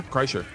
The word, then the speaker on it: Kreischer: Kreischer, you said it right. Yeah? Kreischer.